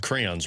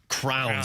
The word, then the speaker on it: crayons: You pronounced crayons wrong, too. Yeah, that's fair. That is accurate. Cranes. What? You never heard that? Crowns, that's what it is.